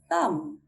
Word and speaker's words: thumb: So the theory, we do not sound out the letter B when it comes before a T or an M. Let's look at some examples. Debt, debt. Subtle, subtle. Crumbs, crumbs. Thumb, thumb.